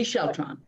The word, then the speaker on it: Sheltron: Correct, UV Sheltron. Like with electron at the end of it.